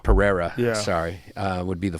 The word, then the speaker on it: Pereira: it I agree with him though him and peroria would be the Pereira sorry uh would be the fight everyone wants